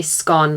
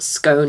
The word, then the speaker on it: scone: do you pronounce gone i say scone like gone not scone as in bone one last bread related